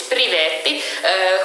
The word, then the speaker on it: privetti: pronunciation of this toilet in Finnish is privetti. We have also some etymological jokes about that. In Eastern or in Western languages, it might be like private, like in English.